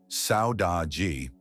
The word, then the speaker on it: saudade: It's pronounced roughly saudade, and it's not just nostalgia, it's something far deeper and far more valuable.